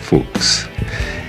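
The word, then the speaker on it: Fuchs: llamado segundo y heinrich fuks y luego transformó un poco su nombre para volverlo más inglés cs se escribe de otra manera en inglés que en alemán pero se pronuncia igual fuks y de los colegas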